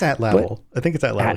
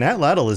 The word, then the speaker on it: atlatl: I've never pronounced that word. I think it's atlatl.